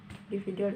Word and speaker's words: individual: Individual ini ada 5 syllable ya. Individual. Penekanannya ada di kata V, individual. Kemudian yang keenam ada what's.